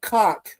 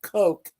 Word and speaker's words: Koch: And I'm like, excuse me, there's a lady there named Christina Koch, or if you pronounce it Koch, she spells it Koch, and she needs to go to the bathroom.